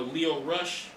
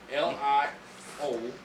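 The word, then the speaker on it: Lio Rush: L-I-O Rush. L-E-O. No, it's L-I-O. No, Lio. no, So it's not Leo. Not Leo like Leo Getz or Leo DiCaprio. Lio.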